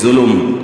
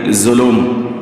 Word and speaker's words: জুলুম: জ, লাম, মিম এই তিন অক্ষরের সমন্বয়ে সমন্বিত বা গঠিত যে শব্দ সেই শব্দটি হচ্ছে জুলুম। আরবিতে জুলমুন। আরবি ভাষাতে জুলুম বলা হয়। যেটাকে আমরা বাংলাতেও বলে থাকি জুলুম।